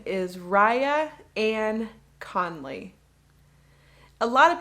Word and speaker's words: Rhia: my full name is raya ann conley a lot of people ask me how do you spell your name and my first name is spelled r h i a and it's pronounced raya how old are you